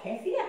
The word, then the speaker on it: kefir: one overnight in milk kefir or kefir however you want to pronounce it and we'll be going